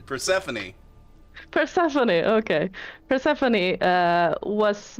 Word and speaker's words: Persephone: also told us that uh i uh i'm pronouncing that per person i love that all of you always mess up this name persephone persephone okay persephone uh was missing at least